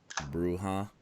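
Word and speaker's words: Brujah: Is that how you pronounce it? Bruja? Yeah.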